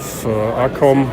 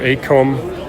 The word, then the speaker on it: ACOM: And here we have ACOM or ACOM, depending on where you are living. We pronounce it ACOM, you pronounce it maybe ACOM.